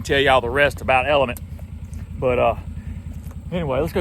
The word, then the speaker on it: LMNT: for sponsoring today's video L MNT pronounced element is an electroly drink